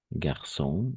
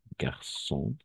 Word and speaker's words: garçon: c'est pour ça on dit et ça va garçon aussi garçon garçon d'autres mots alors et oui les deux